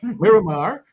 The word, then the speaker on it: Miramar: Maramar Florida yeah you give me the proper pronunciation for marar Miramar Florida okay so he's going to come in